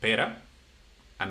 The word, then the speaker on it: pera: Well, in this in this in this case it says pera not per. But this is why I'm telling you the the pronunciation is so important because pera is the fruit pier.